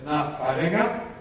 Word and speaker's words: Ngā Haerenga: The pronunciation of the Maori name on that is Ngā Haerenga, and that means the journeys.